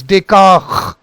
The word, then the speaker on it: Descartes: S is silent.